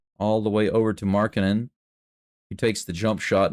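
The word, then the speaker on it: Markkanen: I've been calling him Mark Cannon, but apparently it's Markin. That's the way they're pronouncing it.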